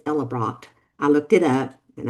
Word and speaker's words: Ellebracht: And the correct pronunciation of that, I believe, is Ellebracht.